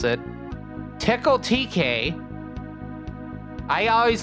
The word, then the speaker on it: Tcl: like this, but apparently that is how you pronounce it. Tickle TK. I always like to call it TCL, but apparently it's it's supposed to be pronounced tickle.